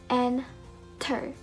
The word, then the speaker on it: enter: Then we have enter. We don't pronounce it as enter, but enter, enter, enter.